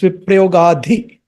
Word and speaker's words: viprayogādhi: Om govinda, govinda, govinda, viprayogādhi, not the, there is a H sound. Viprayogādhi. If you say viprayogādhi, that's a totally different meaning. It's viprayogādhi. Dāva-dāva-dagdhantarātmane.